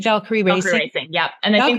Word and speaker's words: Valkyrie: Valkyrie Racing.